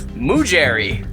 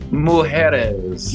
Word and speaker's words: mujeres: He's Mujeri. Mujeri's. Mujeri. Okay, what is the actual pronunciation for Mujeri's? Mujeres. Mujeres. That's What does that mean, Dean?